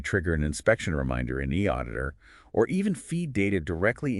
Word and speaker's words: eAuditor: And bringing in a digital tool like e auditor, remember pronounced e auditor, seems like it can really elevate that whole process.